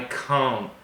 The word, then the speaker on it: can't: I can't speak English, try not to listen for the T sound, la T, because very often native speakers do not pronounce clearly the T at the end of can't. They wouldn't say, I can't speak Spanish. They would say, I can't. So try and focus on the vowel, el sonido vocal.